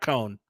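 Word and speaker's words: Coan: Is it possible that Cohen could Don't mispronounce my man's name. Don't do it, Derek. Don't even start. It's Jack Cohen.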